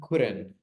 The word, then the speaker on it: couldn't: And the past of can, could, and couldn't. Could and couldn't. Repeat. Could, Good. couldn't. Couldn't. Recuerden que la L no se pronuncia. The L is not pronounced.